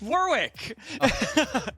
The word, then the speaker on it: Warwick: what my sidekick is it rhymes with York oh God it's Warwick of course War yeah